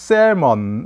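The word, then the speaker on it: salmon: 보여주고 있는데요 이것이 연어 리 스 l 먼 우리 l 발음은 안하죠 2무 구미 되는 건데 이 셀 먼 얼스 연어 에 있는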